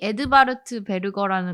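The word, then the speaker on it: Edvard Berger: 그래서이 영화 같은 경우도 콘클라베라는 그 제목 동일한 제목으로 개봉을 했고 감독 감독님이 에드바르트 베르거라는 감독님이신데 이거 독일어로 좀 발음해 주세요.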